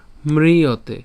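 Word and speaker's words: ম্রিয়তে: ন যা জায়তে এরপর মৃতে এটা কেন মৃতে ম এর সাথে র ফল আছে এবং রসিকার আছে তো এজন্য এর উচ্চারণ কেমন হচ্ছে মৃতে মৃ মৃ ঠিক আছে মৃ মৃতে বা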